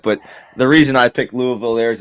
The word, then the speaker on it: Louisville: Clearly, you've never lived like anywhere near Louisville.